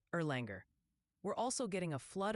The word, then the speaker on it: Erlanger: It's pronounced Erlanger.